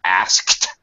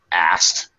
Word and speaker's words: asked: to help you out most native speakers especially Americans would tend to reduce pronunciation of asked because it's hard for us to say okay so we reduce it more like asked all right we kind of dropped the case out it's okay to do